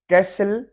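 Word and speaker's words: castle: कैसल, जैसे वो किला होता है, महल होता है किला।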